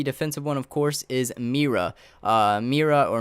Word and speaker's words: Mira: Mira Mira or mayra not sure how to pronounce that i'm going to say mera just because I think that's how it sounds but I'm not sure you can correct me if I'm wrong but I'm going to pronounce it as Mira it's mi RA anyway she's the defensive